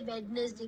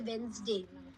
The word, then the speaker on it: Wednesday: Now practice with phonetics and pronunciation like if you see the word wness day we don't say wness day we say Wednesday.